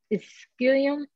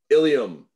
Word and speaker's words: ilium: how to pronounce it um excelium did i say right ilium ilium now spell it i l